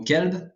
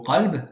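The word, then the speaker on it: قلب: vous avez le mot Kalb qui veut dire chien alors que le mot Kalb avec un Q emphatique en car emphatique veut dire le cœur donc légère différence entre les deux mots voilà euh et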